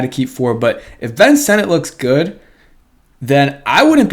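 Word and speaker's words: Ben Sinnott: looks like it's Senate but he says it's pronounced Ben Senate so that's why I'm saying Ben Senate before anyone gets on me in the comments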